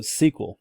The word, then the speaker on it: SQL: you're handling data all right any other also sequel this morning i'm glad they talked about this